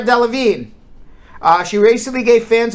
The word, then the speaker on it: Delevingne: right all right uh cara divine cara delevingne cara i gotta pronounce her name right karen d levine delevingne now i got it cara delevingne uh she recently gave